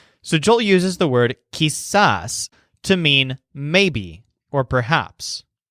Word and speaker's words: quizás: Joel uses the word kiss-ass to mean maybe or perhaps Jesus is halfway between yes and no and the stressed syllable sounds kind of like saws in fact sometimes Joel